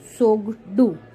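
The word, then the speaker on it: Tshogdu: It start with T बट टी is silent, so it's known as सोगडू.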